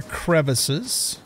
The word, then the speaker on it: crevasse: Just keep our eyes on the ground for, watch out for crevasses or crevices, depending upon how you pronounce it. I pronounce them crevasse.